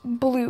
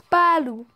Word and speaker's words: Baloo: And it's not pronounced blue. It's pronounced Baloo.